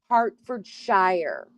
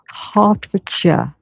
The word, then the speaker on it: Hertfordshire: See, I would say Hartford Shshire. Well, you told you, but it's Hartfordshire.